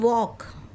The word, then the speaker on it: walk: Then walk, W-A, walk, L is silent here also.